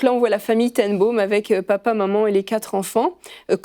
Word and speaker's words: ten Boom: Ten Boom, il faut le prononcer. Ten Boom. C'est pas boom comme une explosion. Non, c'est pas boom, c'est boom. C'est boom parce que ce sont des Hollandais, c'est ça? Des Hollandais, exactement.